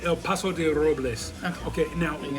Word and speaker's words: El Paso de Robles: Say El Paso de Robles.